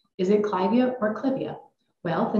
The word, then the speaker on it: clivia: I was taught that if the plant name comes from a person's name you keep the pronunciation of that person's name so you will hear